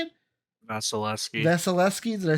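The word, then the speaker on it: Vasilevskiy: Vasilevsky.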